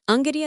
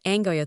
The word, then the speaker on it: Unguja: Zanzibar city is Unguja, pronounced Unguja not Angoya.